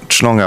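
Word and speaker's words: Schlange: Je le prononce bien. Chlanga. Voilà. Ça c'est un mot alsacien. Ça veut dire le serpent.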